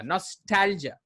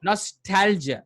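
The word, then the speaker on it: nostalgia: नॉस्टैल्जिया, नॉस्टैल्जिया, नॉस्टैल्जिया। जिया नहीं, हाँ, next time कभी जिया नहीं बोलना, नॉस्टैल्जिया।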